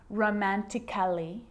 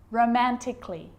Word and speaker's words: romantically: so I'm not pronouncing romantically musically and logically cut the a out get rid of it romantically musically logically now there's